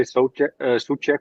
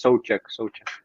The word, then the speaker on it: Souček: People who speak the English language always say Souček or something. I don't know how to say it, but it's Souček. Souček.